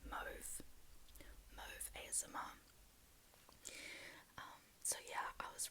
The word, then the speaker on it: Mauve: By the way, her name is, okay, so I don't know how you say it in an American accent, but in an Australian accent, you say Mauve ASMR.